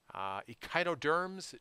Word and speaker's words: Echinoderms: Echinoderms, derm I think rhymes with worm, and this kind of wormy appendages, there's always five.